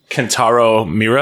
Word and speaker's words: Kentaro Miura: Kentaro Miura. I want to say that's how you pronounce their name. Yeah, Miura.